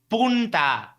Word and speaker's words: Punta: please ask Josh to put more emphasis on the N in Punta Arenas for the sake of the Spanish speaker listening."